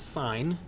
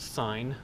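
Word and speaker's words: sine: in a math class there is another word pronounced sign but it is spelled si ne and it's related to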